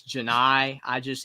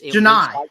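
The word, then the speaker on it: Johni: Johnny Broome, but it's Janai. Janai. It looks like Johnny, and I'm just like, it's easier to say.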